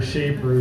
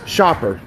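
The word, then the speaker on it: Schaper: Shaper, who puts fear in the hearts of all rhinos and Democrats. Shopper. What's that? Shopper, that's my last name. Shopper, sorry, I said it wrong.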